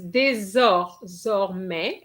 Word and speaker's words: désormais: Okay, it's désormais. Okay, remember an S between two vowels is a Z sound, so you can go, for your Z.